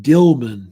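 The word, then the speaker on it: Dilmun: the Sumerians called Eden they called it dilman which is spelled D i l m u n dilman that's the origal name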